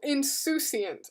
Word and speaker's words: insouciant: Like soup? Oh, insouciant. Okay, not soup. There's no P.